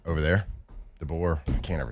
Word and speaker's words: DeBoer: I know there's a lot of, strangely enough, there's rumors for DeBauer over there. DeBoer.